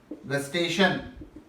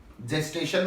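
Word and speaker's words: gustation: और अगला बात कर रहे हैं टेस्ट का, टेस्ट आगे क्या, गस्टेशन, जेस्टेशन मत बोलिएगा, देखिए स्पेलिंग लगा जाती है, बन जाता है जेस्टेशन आएगा तो प्रेगनेंसी की तरफ निकल जाएंगे, गस्टेशन सूंघना चखना।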